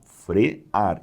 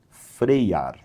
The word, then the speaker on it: frear: Frear, frear e não freiar, tá bom?